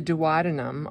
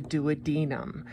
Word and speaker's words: duodenum: small intestine which is the duodenum also known as a duodenum both of those pronunciations are equally correct and there's a sphincter